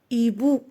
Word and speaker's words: hibou: Un hibou. ما كنقولوش يهيبو اش ما كتنطقش ان يبو.